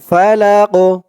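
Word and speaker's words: الفلق: লাক এমন উচ্চারণ হবে তো কফে যখন জজম হয়ে যাবে জেরের বদলে তখন এই কফটা কল কলার হরফ হয়ে যাবে একটু ধাক্কা দিয়ে পড়তে হবে কফটাকে ফালাক ফালাক এরকম বিরব্বিল ফালাক বিরব্বিল ফালাকুল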